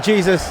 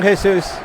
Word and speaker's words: Jesus: Gabriel Jesus, the English pronunciation, Jesus. Some commentators enjoy calling him Jesus, but I'll stick with his native tongue, Jesus.